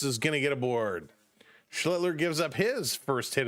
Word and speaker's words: Schlittler: Schlittler, got to pronounce that L in there.